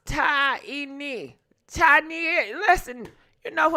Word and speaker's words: Taina: Yeah, it's pronounced Taina.